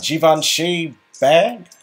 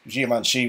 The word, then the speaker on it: Givenchy: Well, do you doubt a Givenchy bag? I don't know what that is. A Givenchy bag. Well, I mean, it's pronounced Givenchy with a J written in there, but you know, it's penny pinching prices.